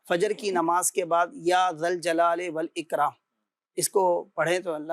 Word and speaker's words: یا ذا الجلال والاکرام: یا ذا الجلال والاکرام، یا ذا الجلال والاکرام۔ اچھا، بہت سے لوگ یا ذو الجلال پڑھ رہے ہوتے ہیں، صحیح تلفظ یہ کہ جب یا کے ساتھ پڑھا جائے گا تو یا ذا الجلال والاکرام، یا ذا الجلال والاکرام، یا ذا الجلال والاکرام، اس انداز سے یہ وظیفہ پڑھنا ہے۔ اب یہ نماز فجر